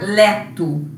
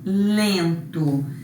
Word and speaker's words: lento: Para que serviu esse N? Para nasalizar esse E. Para a gente não pronunciar leto, lento.